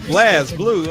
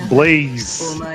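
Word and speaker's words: BlazBlue: other day was like Blaz Blue. I'm like, what the hell is a Blaz Blue? Like, no, it's Blaze. Just because the E ain't there don't mean you don't pronounce it right.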